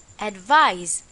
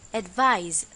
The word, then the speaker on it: advise: and the pronunciation is advise remember that this time it's a z sound advise for our exercise fill